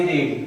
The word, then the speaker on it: read: अब देखो इधर एक वर्ब होती है आपकी रीड, क्या होती है, रीड।